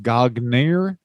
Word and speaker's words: Gagne: gotch was actually there i think he mispronounced that it's actually pronounced gagner oh gogner he uh